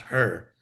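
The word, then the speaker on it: हृ: It's actually It's like the English word her. The vowel is the r, her.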